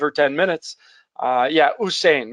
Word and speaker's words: Usain: ten minutes uh yeah usain maybe i mispronounced his first name usain bolt i said hussein it's close uh and so uh